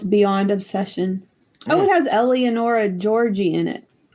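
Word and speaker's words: Eleonora Giorgi: Oh, it has Eleonora Georgi in it. I can't say her name. I'm sorry. You nailed it. That's literally how she says it.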